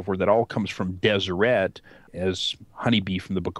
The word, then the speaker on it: Deseret: And in the lower kingdom, it talks about Deseret, and it's all consonants. There's no vowels in there. It's dsrt, but it would have been pronounced something along the lines of Deseret.